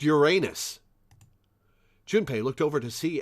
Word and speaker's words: Uranus: your male symbol that's the urinal symbol it's pronounced Uranus jinpay looked over to see Ace examining the